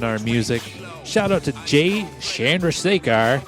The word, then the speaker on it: Chandrasekhar: music shout-out to Jay Chandrasekhar I guess it's Chandra that's what he said it like right okay yeah I